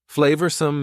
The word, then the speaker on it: flavorsome: Flavorsome means delicious and full of flavor. Notice the pronunciation. 2 schwa sounds there. Flavorsome.